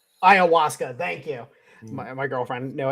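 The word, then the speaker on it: ayahuasca: Ascanda, is that how you say it? That that that the uh uh Siberian Americans like to smoke. Ah, Iawaska.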